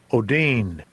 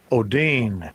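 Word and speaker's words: ὠδίν: Odin. Odin. So, it's pronounced Odin.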